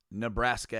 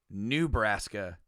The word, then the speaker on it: Nebraska: she said it wrong she didn't say turn right on nebraska avenue she said new brassica ave i don't even not